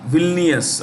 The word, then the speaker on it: Vilnius: Lithuania, Vilnius, I'll spell it for you, Vilnius.